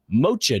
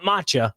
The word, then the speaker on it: mocha: And to wrap it up, National Mocha Day. Not matcha. Mocha. Nice. Spell that. M O C H A. Mocha. Matcha is m a c ha.